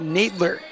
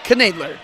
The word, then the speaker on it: Nadler: On the other side, Rosholt got Nadler. It's actually pronounced Knadler.